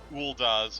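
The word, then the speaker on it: Ul'dah: just This one right here, and this is Ulda's Market Street. Yes, that's how you pronounce it.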